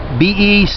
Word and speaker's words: Becquerel: But it's Becquerel, Becquerel. So Becquerel. Yeah, that's correct.